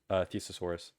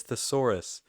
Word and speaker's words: thesaurus: good word thank you theasaurus just kidding it's thesaurus aha I I pronounce it as thosa surus sometimes I don't know